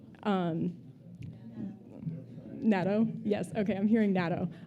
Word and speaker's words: natto: My brother is also trying to get my family into I'm afraid I will mispronounce it, so I'll spell it. N A T T O. Um natto.